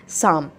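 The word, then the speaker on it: Psalms: माना जाता letter day शाम पी इसका साइलेंट रहेगा लेटर देर शाम और यह 1982 के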